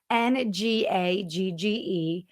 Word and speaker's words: Ngagge: And most importantly, if you can't tell from our name, Ngagge, which is spelled cleverly, Ngagge, sounds like engaging, engage with your customers, spelled differently.